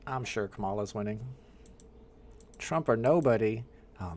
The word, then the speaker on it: Kamala: know Kamala no Kamala I know it's pronounced Kamala but I watch WWF wrestling growing up I watch the Ugandan Giant growing up so I pronounce it Camala like the WWF wrestler and I'm sorry if